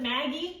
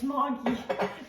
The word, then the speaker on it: Maggi: Some people pronounce it Maggie. It's Mogi.